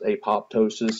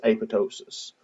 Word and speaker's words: apoptosis: with apoptosis or apotosis it's actually not pronounced apoptosis it's apotosis so um characteristic of